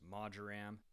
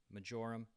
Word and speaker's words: marjoram: For herbs, I'm using oregano, thyme, and the ever elusively pronounced marjoram, or marjoram in the US. Or as I choose to call it, knowing full well it's incorrect, majoram. Just sounds better.